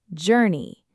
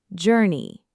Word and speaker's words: journey: And finally, journey. Many learners want to pronounce the r sound strongly, but it's soft. Journey. Try it. Journey.